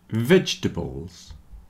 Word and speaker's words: vegetables: with art heart heart comfortable vegetables and chocolate have lost their middle syllable at least for most people so comfortable comforable you